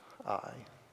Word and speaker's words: Ai: And then another city that's mentioned close to it is Ai. Usually say this Ai. In the Hebrew, the A, the aleph is silent. So it's just Ai.